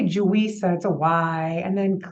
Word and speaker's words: Yuisa: having a name and my name is actually pronounced juwisa the wise with a J and it's it's very